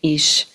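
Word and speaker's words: ich: The word I. Their billioners pronounce it ick. Those from Frankfurt on mine ish. Those from Schwabin or E.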